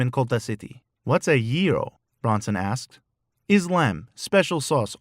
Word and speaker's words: gyro: made those one time it pronounced yiro you see gy is ye not ja hiro that's what you say